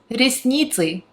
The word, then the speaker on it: ресницы: So eyelashes, ресницы, Cyrillic alphabet up here, and pronunciation and phonetics in English gonna be below. Ресницы. So at the end there is a sound that does not exist in English.